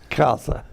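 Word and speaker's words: Khalsa: Jagannath Kalsa. That's how he told me when I met him.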